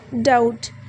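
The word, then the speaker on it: doubt: है लेकिन एंड पे बी जो है वो साइलेंट है इसी तरह से डाउट डी ओ यू बी टी लेकिन इसमें बी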